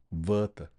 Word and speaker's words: Werther: Werther, how it rhymes with Goethe, should not be lost upon us.